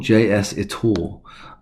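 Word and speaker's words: JSitor: find this editor now this is is called JS it all um so to spell that is JS i t o r it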